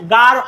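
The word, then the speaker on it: গাঢ়: রং দাও আসলে এটা গাড়ো না এটা হচ্ছে গারহ হো গার হো গার হো চিন হো গার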